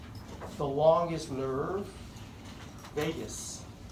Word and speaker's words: Vagus: like the longest nerve Vegas so don't think Las Vegas it's not spelled like that is it students always